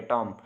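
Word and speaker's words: tomb: आपको बताता चलूं कि इसमें बी साइलेंट है टॉम तो इसको जैसे पढ़ेंगे टॉम टॉम नहीं पढ़ना तो ये अल्लामा इकबाल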